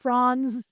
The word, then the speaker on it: Fron: And we had a place that seemed weird because my name is Fron. It's pronounced Fron.